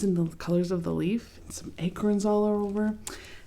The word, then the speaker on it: Leif: And I want to point out the title is kind of interesting because this spelling of leaf, L E I F, is the a name.